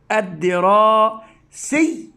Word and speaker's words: الدراسي: ثم هنا سي حرف مكسور، وإي بنفس الطريقة، طالما أن الشدة وجدت فوق الحرف ووجدت تحتها الكسرة، فأقول الدراسي أي. يعني نطقت الياء مرتين، نطقتها في المرة الأولى ساكنة ثم متحركة بالكسر إي، مثل هذه الدي. إذن عندما أقرأ الكلمة كاملا أقول الدراسي الدراسي.